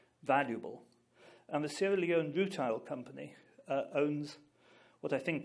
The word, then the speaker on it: rutile: Now, there's a mineral, and you must forgive me, I can't pronounce the letter R very well. It's called rutile, R-U-T-I-L-E.